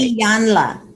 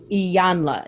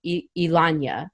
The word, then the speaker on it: Iyanla: I never can pronounce it right. Iyanla. Iyanla. You went to this Iyanla. program with Ilanya.